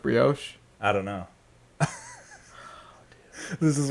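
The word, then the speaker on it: brioche: be honest you say do you say broch or Brios it's pronounced Brios I don't know this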